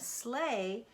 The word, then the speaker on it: sleigh: We talked about that, comb, crumb, thumb, and sleigh, E-I-G-H, E-I-G-H, all says A.